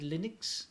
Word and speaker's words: Linux: Yeah, somebody's got to teach him how to pronounce Linux, though. We say Linux here.